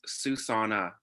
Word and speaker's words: Xusana: She is fluent in Spanish, and her name is pronounced like the phrase Xusana.